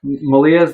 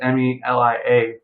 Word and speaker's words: Malia: Malia's name is really easy. It's just Melia, but she gets called Malia.